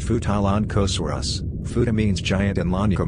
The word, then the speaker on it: Futalognkosaurus: the genus name is derived from the local indigenous language mapu dungun it is pronounced futalon kosurus futa means giant and lanika means chief it